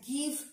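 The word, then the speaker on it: give: follow করা দরকার ছিল, বাট গিভ গার্ল গেট কোনোটাই কিন্তু এটা জিভ বা জল বা জেট বলি না, জয়ের উচ্চারণ বলি না, কি গয়ের উচ্চারণ করি আমরা, এগুলোতে গয়ের উচ্চারণ করি,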